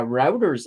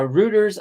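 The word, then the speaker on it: Reuters: look at this uh routers up uh or router depending everybody has a different pronunciation for them uh rooters up 1.98% a constellation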